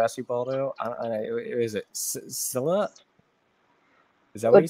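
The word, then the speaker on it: Scylla: this one yeah Sila this is called Skyla Sky it doesn't it doesn't look like it because it's s um c y l l a but yeah pronounce it it's Skyla so okay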